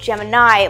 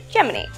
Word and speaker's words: Gemini: going to ask about this is why it's pronounced gemin and not Gemini like the zodiac sign or the constellation I